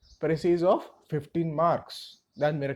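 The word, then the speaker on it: précis: Again, I'm going to pronounce it as presse. Some people will say it is precise. It's up to you.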